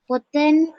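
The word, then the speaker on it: පොතෙන්: அதான் பொத்தையோட எண்ணை சேர்த்தா சிங்களத்தில் எப்படி உச்சரிக்கிற பொத்தேன் பொத்தேன் பொத்தேன் அவ்வளவுதான் பொத்தேன் பொத்தேன் பொத்தேன்ன்னு சொன்னா புத்தகத்திலிருந்துன்னு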